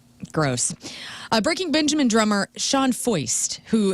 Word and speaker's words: Foist: Breaking Benjamin drummer Sean Foist, who his last name is spelled like moist, only it's Foist.